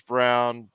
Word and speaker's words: Braun: Jr you have Christian Brock Brown spelled like Braun Christian Brown who could take over